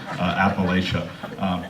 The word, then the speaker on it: Appalachia: it wrong just so you know it's actually pronounced appalachia don's from kentucky they say it wrong in